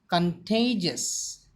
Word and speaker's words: contagious: Contagious. It is an adjective. The pronunciation of the word is contagious.